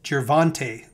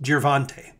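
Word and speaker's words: Gervonta: left of your screen boxing tomorrow night is jervante davis pronounced girvante i actually have never seen him before but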